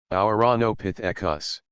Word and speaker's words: Ouranopithecus: It took me weeks just to pronounce it right. Ouranopithecus.